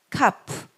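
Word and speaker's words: כ: 그 다음에 카프. 다 외우세요. 집에서 많이 연습하세요. 카프. 자, 키읔 발음 카프죠.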